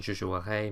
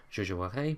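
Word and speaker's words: jouerais: Whereas I would play, the conditional, has an E sound at the end, almost like an E with a grave accent.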